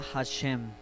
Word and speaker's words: Hashem: se dice el señor pero en hebreo se pronuncia hashém si que significa literalmente el nombre ok el